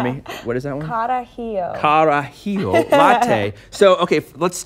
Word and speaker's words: Carajillo: coffee Manhattan and an iced, you'll have to pronounce that word for me. What is that one? Carajillo.